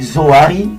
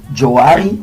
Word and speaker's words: Zoari: Suite aux difficultés de prononciation de certaines personnes qui prononçaient Joari et certains Zouria, ces noms commençaient à